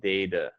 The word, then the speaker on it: data: data good great data so the a is a long a sound it sounds like the letter a data right data but but